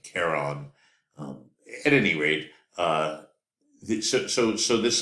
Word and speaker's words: Charon: The largest moon being named Charon or Charon, depending on how you want to pronounce it. It begins with a C, so I like to pronounce it Charon.